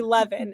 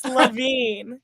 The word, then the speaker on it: Levin: I swear someone called me Levan in the like what are we doing here? It's not Levan. It's Lavine.